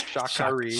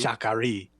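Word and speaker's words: Sha Ka Ree: Well, that's, so they're traveling to Shakari, which, Colin, I just realized that's what you were trying to pronounce earlier. Right, that's Shakari. Shakari.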